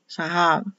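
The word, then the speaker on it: זהב: Z, A, H, A, and this will be pronounced as a V, but written as a B. So it will be Zav, Zahav.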